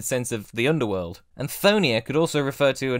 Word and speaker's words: Chthonia: Yep, that's right: Chthonia. I said it correctly.